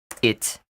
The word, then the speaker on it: hit: Hit can also be pronounced it if it follows a hard consonant. You don't always need that H there.